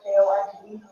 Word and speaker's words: Jorge: Spell it for me. Torres. And his first name? George, Jorge.